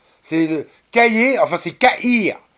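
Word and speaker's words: Cahir: C'est le Caillé, enfin, c'est Caïr. Ça s'écrit comme un cahier, mais sans le E. Donc, Caïr. Comme un cahier, mais sans le E, ça fait C-A-H-I-R.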